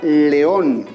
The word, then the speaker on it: león: es la palabra león cuanta estila vas tiene la palabra león correcto tenemos dos sílabas donde se encuentra la mayor fuerza de voz en la última sílaba por lo tanto le voy a colocar tilde vámonos con la última